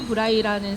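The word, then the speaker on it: Braille: 영어로 얘기하면 브레일이라고 하는데요 점자를 발명한 사람은 프랑스 사람 루이 브라이 있니다 그래서 브이를 영어로 발음하면 브레이 된다는 거죠 근데 루이 브라이가 점자를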